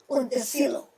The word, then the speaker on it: Montecillo: His name is spelled right inside. It's Montecillo. Montes in mountain. Pedro. Montecillo. Not Montecillo. It's Monte. Mountain. Zero.